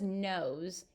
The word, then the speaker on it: knows: of someone or something I noticed this word has the sound at the beginning but I see a que as the first letter I'm wondering why that is that's right that's because the K is silence when it comes before